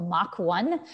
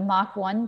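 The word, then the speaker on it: Mock 1: production system called the mach 1. we named it the mach 1 because it's spelled m-o-c-k so it makes mock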